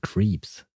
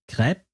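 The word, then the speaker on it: crêpe: But why change the sound e from crepe to creeps?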